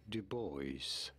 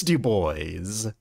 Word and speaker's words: Du Bois: about pronouncing his name w e b Dubois two boys it is Dubois this is not French all right that is Dubois huh well oh Francis